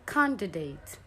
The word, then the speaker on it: candidate: We have candidate. Candidate is a wrong English pronunciation. It's actually candidate. candidate. So you can't drop the D.